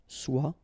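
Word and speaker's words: sois: it will become swell remember final as it's not pronounced SWA then swayin swaggy all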